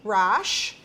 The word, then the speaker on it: Rasch: uh a new friend of mine called mickey rash i know it's spelled r-a-s-c-h but you said it was rash